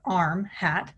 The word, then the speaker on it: RmHAT: how to troubleshoot it arm hat or rm hat pronounced arm hat is remote hearing assistive